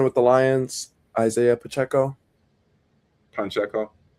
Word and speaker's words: Pacheco: Pacheco. There's no N in his name.